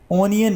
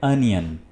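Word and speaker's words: onion: ओनियन नहीं, लफ्ज़ है अनियन।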